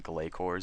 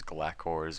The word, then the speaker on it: Glacor: me through this video if I keep pronouncing it wrong as in gayor because I keep saying gayor I'm hearing like it's glacor and and all these other weird pronunciations so not weird pronunciations